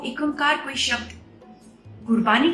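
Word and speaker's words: ੴ: एक ओंकार, इस पे हमारी सारी गुरबानी बेस्ड है। एक ओंकार, एक ओंकार, एक अंकार, बहुत सारे इसके प्रोनाउंसिएशंस हैं, लेकिन मोस्ट एक्सेप्टेड प्रोनाउंसिएशन इज एक ओंकार।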